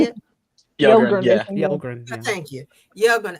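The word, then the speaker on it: Yelgrun: Yelgren.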